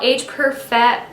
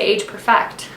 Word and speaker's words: Age Perfect: Next thing I used up is the L'Oreal Age Perfect. I was gonna say Age Perfect. Nope. You put the wrong emphasis on the wrong syllable.